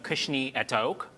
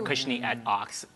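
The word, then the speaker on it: Cushnie et Ochs: by the name of Kushni et Oak, or Kushni et Ox. Depends on what side of the pond you are on, depending in terms of how you pronounce the name of the brand.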